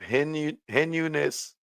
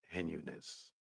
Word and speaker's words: heinous: Their defamatory and other statements accusing Cartagena of heinous crime. I think I'm pronouncing that wrong. I believe that's heinous. Heinous, my bad.